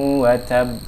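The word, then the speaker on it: وَتَبّ: Di modul kita tertulis watabba. Oke. Ketika dia diwakafkan, kita membacanya seperti watab.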